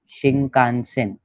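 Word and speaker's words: 新幹線: फिर Denwa, then शिंकानसेन. अभी देखो इधर अलग हुआ आवाज, के सीरीज है इसलिए शिंक हो गया, शिंका. और फिर इधर से है इसलिए शिंग का न से न, शिंकानसेन.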